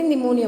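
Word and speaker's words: pneumonia: निमोनिया हो जाता है यहां पे साइलेंट अंतिम ऐसे निमोनिया बोला जाएगा शिवलाल इन हेर विदाउट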